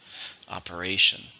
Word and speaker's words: operation: How many syllables are in operation? 4, stress on the third, operation.